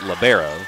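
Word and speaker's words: libero: I go back and forth in the pronunciations. I come from I go to school for undergrad at Faulner where coach Renda and the whole staff calls it labbero. Then I go from a GA. There's the kill. I go to UWF where head coach Melissa Walter calls it pronounces it Libra.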